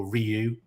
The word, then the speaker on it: Ryu: was just love being Ryu like oh Ryu as he's actually pronounced but yeah I I